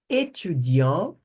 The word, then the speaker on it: étudiant: Aí pronuncia, porque tem a vogal aqui para poder auxiliar. No masculino não pronuncia o T, tá bom?